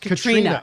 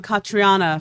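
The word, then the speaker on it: Caitríona: were reading is pronounced katrina okay she's irish and that is just the gaelic spelling good to know i'll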